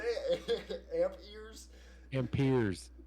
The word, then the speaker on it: amperes: Amp ears. Amp ears. Nice. Okay. Well, you got it right. What's next? Is that not how you say it? Amp ears? Amperes. Oh, it's amperes, not amp.